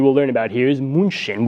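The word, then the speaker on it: München: learn about here is moonshin which is pronounced in English as Munich but here we learned Munchen Islam so this is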